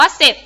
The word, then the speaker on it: เสร็จ: รอ เรือ นะ คะ เวลา ออก เสียง เรา จะ ออก เสียง แค่ พยัญชนะ ตัว หน้า ตัว เดียว ค่ะ เช่น ครั้ง นี้ นะ คะ เสร็จ นะ คะ อ่าน ว่า เจ็ด นะ คะ จริง ก็